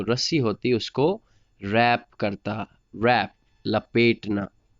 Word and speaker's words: wrap: होती उसको रैप करता, रैप लपेटना, रैप WRAP रैप, इसमें W साइलेंट है, रैप।